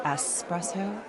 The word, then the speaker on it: espresso: three and forty four trees for the gentlemen the back doing a vaudeville routine double shot Express over Karen it's pronounced espresso get out of my